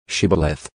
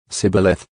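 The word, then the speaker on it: shibboleth: would say to him just say shibaleth but he said sybileth for he was not prepared to pronounce it correctly then they seized him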